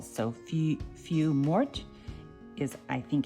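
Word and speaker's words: feuille morte: do it but I you don't pronounce the L so a few few Mort is I think how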